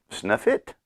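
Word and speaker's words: Sutliff: of this uh snuff snuff it snuff it lit s-u-t-l-i-f-f that's how it's pronounced God it would stop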